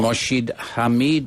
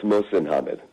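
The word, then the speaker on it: Mohsin Hamid: Mashid Hammed. Am I pronouncing that correctly, sir? It's Moshin Hammed.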